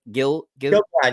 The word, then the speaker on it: Gil-galad: Gil-galad, you had it.